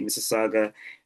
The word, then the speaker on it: Mississauga: So it's the Greater Toronto Area, the GTA, up in the suburbs, Mississauga. So it's Saga City, Mississauga. That's basically how you pronounce it.